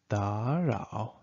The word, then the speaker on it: 打扰: Just remember, because you have two third tones here, you should change the first third tone to the second one.